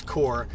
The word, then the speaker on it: Corps: So I would absolutely love for you to join my Facebook group The Success Core, and core is spelled CORPS, The Success Core.